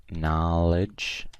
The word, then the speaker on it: knowledge: and we have knowledge this one's like no like there is a silent K like no here so knowledge knowledge okay here we have